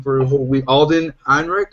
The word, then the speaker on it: Ehrenreich: We have been saying his name wrong for a whole week. Alden Ehrenreich. Ehrenreich is the new lead for Han Solo.